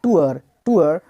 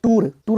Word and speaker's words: tour: आगे देखेंगे यहाँ पे तो क्या है, TOUR, इसको पढ़ते हैं टूअर है कि नहीं, और R साइलेंट करके ब्रिटिश से पढ़ते हैं तो टूअर हो जाएगा, टूअर। वो कहाँ गया है भाई, वो टूअर पर गया है, टूअर पर। लोग बोलते हैं टूर नहीं होता है, टूअर मतलब होता है यात्रा।